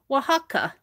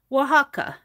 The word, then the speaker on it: Oaxaca: Oaxaca is pronunciation? Oaxaca. Oaxaca.